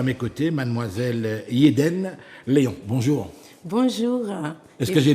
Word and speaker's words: Yedene Leon: Mais là, aujourd'hui, nous allons parler littérature, puisque j'ai à mes côtés mademoiselle Yeden Léon. Bonjour. Bonjour. Est-ce que j'ai bien prononcé là?